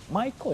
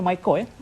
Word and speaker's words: MyCorps: Sebelum tu kita tanya kepada Saudara Effendi, MyCore ini merupakan salah satu program di bawah Kementerian Belia dan Sukan. Walaupun ejaannya MyCorps tapi sebutannya MyCore Correct.